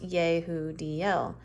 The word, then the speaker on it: Yudel: me and clearly heard the name yudel pronounced yo DL I then had a